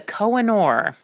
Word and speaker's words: Kohinoor: The name of the diamond actually comes from Persian and Arabic origins, and it's the Kohinoor. It's KOH-I-NOOR is the common way that it's spelled.